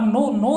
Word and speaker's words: known: ठीक है, तो words which are used at the place of नाउन, यानी नाउन के स्थान पर प्रयोग होते हैं। आर नॉन, आर नो, नो नहीं है, नॉन है, एन कर देना, KNOWN।